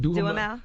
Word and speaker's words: Duhamel: Listen, man, we need Josh how you pronounce his last name? Duhamel.